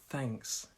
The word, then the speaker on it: thanks: is thanks thanks and for this one we also have our tongue on our teeth and it's the air coming out thanks thanks thanks thanks and it's like a snake thanks thanks thanks so